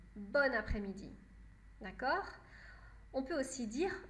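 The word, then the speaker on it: bonne après-midi: qu après midi et parfois masculin parfois féminin les deux sont possibles mais dans les deux cas on prononce bonne bonne après midi d'accord on peut aussi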